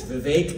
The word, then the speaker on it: Vivek: It's Vivek like cake, and Ramaswamy like Ramaswamy.